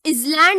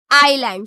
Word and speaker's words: island: Here also we pronounce it as island or island. It is island. So S is silent here.